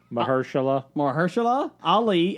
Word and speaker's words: Mahershala Ali: Somebody said they wanted to hear you pronounce his name. Mahershala Ali as Blade.